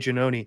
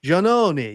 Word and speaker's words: Giannone: her face and she's, "Oh, Janoni, that's not how you say it, Janoni."